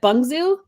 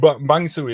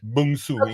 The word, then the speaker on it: Bungsu: Is it Bungsu? Yeah. Okay, I thought you meant my name. That was spot on. And Bangsu is quite all right. Bungsu in Indonesian, but hey, who's counting?